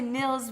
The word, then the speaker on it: Nils: Well, I always say Nils because it looks Yeah, like that's- Nils. That's right, that's how you say it.